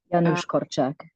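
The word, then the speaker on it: Janusz Korczak: you might have to correct my pronunciation here about um yanis corac did I say that right yanos kak there you go um who was a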